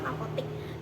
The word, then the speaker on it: apotek: Nah, kata tersebut itu belum sesuai ejaan bahasa Indonesia atau kaidah bahasa Indonesia yang mana seharusnya adalah apotek, namun dibacanya tetap apotik.